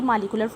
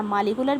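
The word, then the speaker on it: molecular: अच्छा, मालिकुलर भी मैं पहले भी आपको बताती थी, मालिकुलर भी प्रोनाउंसिएशन होती है, लेकिन इसका ज़्यादा बेहतर एक्सेंट जो होता है, जो ज़्यादा हायर लेवल्स पे यूज़ होता है, वो मोलेकुलर होता है।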